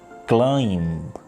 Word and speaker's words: climb: like plumber but we mispronounce it plumbo climb the correct pronunciation of the word is climb tom the